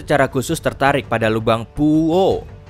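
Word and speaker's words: Puʻu ʻŌʻō: Tim tersebut secara khusus tertarik pada lubang Puuo. Iya, memang begitu pengucapannya. Puuo.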